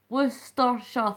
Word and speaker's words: Worcestershire: Worcestershire. Worcestershire. 3 syllables.